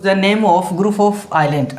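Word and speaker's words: Ireland: नाम of group of आयरलैंड अब इसका तो प्रनंसीएशन है वो आइसलैंड नहीं होता ठीक है ना इसका क्या होता आयरलैंड ठीक है ये क्या है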